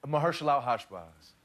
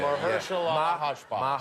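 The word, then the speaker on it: Mahershalalhashbaz: Mahershala Hashbaz. Oh boy. Yeah. Mahershala Hashbaz.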